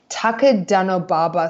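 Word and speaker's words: 高田馬場: The name of the station is, now excuse again my terrible pronunciations, I think it's pronounced Takadanobaba Station.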